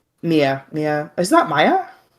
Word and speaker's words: Mia: Mia is just Mia. Whatever. Maya. No, there's a difference. Shut up. Pronunciation is Mia.